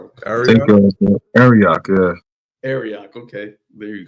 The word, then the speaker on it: Arioch: Ariok. Arioch, yeah.